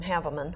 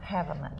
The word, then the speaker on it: Haveman: I'm looking forward to seeing Chris, I think he pronounces his name Haveman. Haveman.